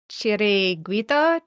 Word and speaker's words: Chiringuito: I think it's Chiringuito Chiri Chiringuito.